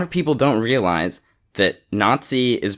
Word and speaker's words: Nazi: because a lot of people don't realize that Nazi is pronounced that way because a the Z is